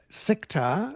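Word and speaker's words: CICTAR: And um we welcome into the show Eid Miller from uh Sectar.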